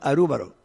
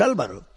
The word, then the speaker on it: Álvaro: Usted puede llamar a mí Álvaro, pero en Japón me llaman Arúbaro. Es mi nombre. En el Canadá los jóvenes me decían Albero. La pronunciación varía un poco, pero el nombre esencial mío es Álvaro. Y las consonantes son las mismas, no varían.